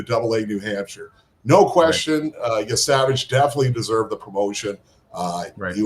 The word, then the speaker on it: Yesavage: It's Trey Yesavage or Savage. Yeah, Trey Yesavage. That's not just like it looks.